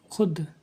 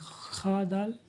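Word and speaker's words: خود: य खुद तो इसमें वाव जो है इसको लिख ने में आएगा लेकिन पढ़ने में इसको साइलेंट कर दिया जाए खा दाल पेश खा प खू और दाल साकिन है खूद लेकिन हम पढ़ेंगे खुद ख व शीन खुश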